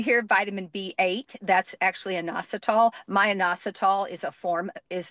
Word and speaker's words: inositol: If you want to know the spelling since I butchered every single pronunciation of everything this stream which you know keeps me humble. Inosol. Inositol.